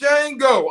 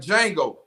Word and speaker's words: Django: He was like, Django. The D is silent.